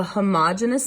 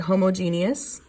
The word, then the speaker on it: homogeneous: We have what is called a homogeneous mixture. Some people pronounce it homogeneous, same word, okay, which means the same all the way through.